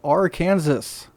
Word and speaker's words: Arkansas: He is now 64, rookie out of Arkansas. I know that's pronounced Arkansas.